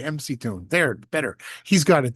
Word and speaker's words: McToon: And stop mocking people for calling him McToon. He literally writes it MC Toon, which is pronounced McToon.